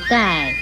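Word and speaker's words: 丐: 盖字的国语注音是歌爱盖四声盖，盖四声盖。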